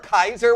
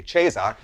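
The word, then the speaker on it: Caesar: like some Roman empera Kaiser which is the Original Latin pronunciation by the way not the ecclesiastical which would be chesar but nevertheless do you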